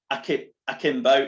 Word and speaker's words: Akimbo: So I propose now that so now Holly has developed a career in cybersecurity and founder of the company Akimbo. Is that how you pronounce it? Yeah.